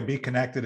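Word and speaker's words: Bekonnected: it's by the way be connected is b-e-e-k-o-n-n-e-c-t-e-d so if you're hearing it uh it's spelled with a k and the b is like a b so so you know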